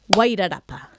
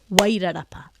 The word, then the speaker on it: Wairarapa: I'm just going to say them out loud so you can hear with a clap where that stress is. Akaroa, Akaroa, Wairarapa, Wairarapa, Taratahi, Taratahi, Whakaoriori, Whakaoriori.